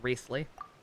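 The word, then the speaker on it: Wriothesley: What was the actual pronunciation that we figured out? Riesli? It seems like it should be a lot more of a mouthful of that, but I believe Sub worked it out for us, even though that's not even a French name. And the correct pronunciation is just Riesli.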